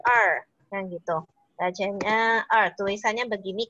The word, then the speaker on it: 二: itu kita belajar tuh Bacanya adalah er nah gitu rajanya tulisannya